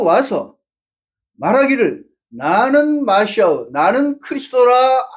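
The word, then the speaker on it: Χριστός: 근데 발음 그대로는 크리스도입니다. 크리스도. 그래서 이 마시아는, 이 그리스도는 한 사람이 아니에요. 주님이 말씀한 그 그리스도는 많은 사람이 내 이름으로 와서 말하기를 나는 마시아, 나는 크리스도라 할 것이다 이겁니다.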